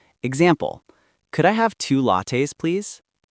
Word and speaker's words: latte: Some learners say latte like late, but it's actually latte.